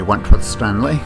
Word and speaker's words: Wentworth-Stanley: This is Wentworth-Stanley. I'm the fellow who has a hyphen in my name. The hyphen is silent, but I am anything but that.